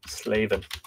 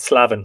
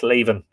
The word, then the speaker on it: Slaven: ancient books of Ireland slaven that's how that name is pronounced by the way it's not slavin it's slaven it's from the English sorry it's from the Irish slavine um it's available on